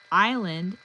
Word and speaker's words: island: Silent B, borrowed from Latin, island, silent S, added by mistake, and a myriad of other spellings that whisper of history long past.